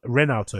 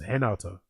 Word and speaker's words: Renato: So, it's not Renato. It's pronounced Henato.